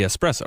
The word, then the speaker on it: espresso: the full version of come spresso versus espresso it's supposed to be espresso right right yeah well